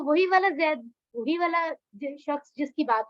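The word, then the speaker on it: زَيْدٌ: किसी बॉय का नेम है, जिसे कहते हैं जैद। जैद तो अरबी में हम प्रॉपर प्रोनाउंस करते हैं ज़ईद।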